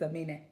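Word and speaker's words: Aminé: His name is Amine. It's Amine. Well, whatever. Yes. His name with the accent on the end.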